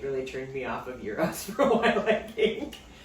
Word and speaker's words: gyro: you say it yes it's called euro but this is not how chad has said it all week one how have you said it yiro no he says gyro